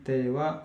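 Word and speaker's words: ては: Oi tewa ike maseng. Ini bukan ha ya teman-teman bacanya tapi wa tea ik maseng.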